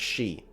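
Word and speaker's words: Sidhe: the high king of the she s-i-d-s-i-d-h-e is pronounced she that's wild back when they were at war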